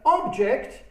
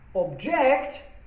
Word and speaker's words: object: can see and touch object with stress falling on the last syllable is a verb meaning to disagree with something again uh present as